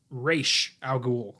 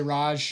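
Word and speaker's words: Ra's al Ghul: and for the record it is pronounced race al ghul a lot of people say raj yeah because batman begins overlooked that little detail one bit that i have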